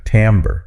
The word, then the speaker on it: timbre: Like the first part of tambourine. That's a great way to remember it. Timbre.